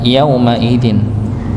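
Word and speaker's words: يومئذ: Yaumaidzin maka tidak dipanjangkan yaumaidin nggih. Yaumaidin ya. Maka yaumaidin ini ya dibaca pendek satu harakat saja ya.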